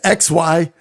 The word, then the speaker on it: xylopolist: Well, how do you spell it? It's XYLOPOLIST, xylopolist.